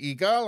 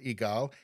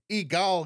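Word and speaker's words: EGALE: can watch let's see igal I think it's pronounced egal egal Canada an organization for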